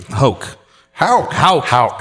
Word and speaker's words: Houck: Houck. Houck. Nailed it. That's okay. Anyway, glad to have Jesus, you. Houck.